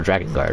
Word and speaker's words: Drakengard: We're pronouncing it right though. Drakengard, right?